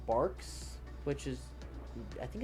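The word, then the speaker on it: Barq's: And then we have um it's called Barks, which is I think it's B A or something. It has a Q in it somewhere, but it's pronounced barks or mug root beer.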